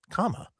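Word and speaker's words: kama: That's the way you spelled comma. K A M A.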